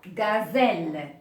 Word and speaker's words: gazelle: passer à la lettre G alors là aussi la lettre G pour la lettre G le même principe alors on a j'ai suivi par les voyelles a o u à ce moment-là il se prononce alors on a exemple gazelle la gazelle Go comme gorille le gorille alors gus comme